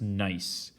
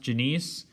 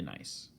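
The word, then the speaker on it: gneiss: once again is pronounced nice but it's spelled g g-n-e-i-s-s okay so phonetically reading it kind of looks like it's pronounced janiece but this is actually nice okay nice all right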